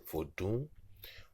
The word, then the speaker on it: Vodou: The Curses of Vodou, Part 1 by Drew Short and Xolali Togb-Wonyo. General information. Vodou, meaning spirit in the Fon and Ewe languages, pronounced Vodou with a nasal high tone U, also spelled Vodon, Vodou, Voodoo, or Voodoo, etc.